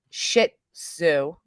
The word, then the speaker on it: Shih Tzu: Three Size just sent us a video of her Shih Tzu. Somebody says, say it like you're telling Susan to take a shit. Shih Tzu.